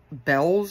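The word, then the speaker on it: Bealls: a TJ Maxx but it's called bells and it's spelled b e a l LS I don't know you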